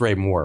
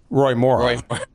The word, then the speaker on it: Roy Moore: I think I can't remember how I pronounced it, but it's Ray Moore, right? Roy Moore.